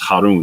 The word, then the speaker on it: Harun: son of Eleazar and this is Haron this is the this is how you say Aaron or Aron in uh in in Arabic so this is Phineas